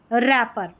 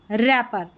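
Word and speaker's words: wrapper: Number 15 पर है WR, WR में र, यानी कि W साइलेंट है, R को पढ़ा र। तो देखिए राइट, रिस्ट, रैक, और ये है लास्ट में रिंकल। क्या है? रिंकल, और ये है रैपर, रैपर।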